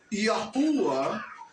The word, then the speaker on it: Yahuwah: So the Yod as a vowel is the I. The Hey is Ah. The Wav is U. The Hey is Ah. So when we pronounce the name Yahuwah or Yahuwah, we're pronouncing it that way because we are pronouncing the vowels.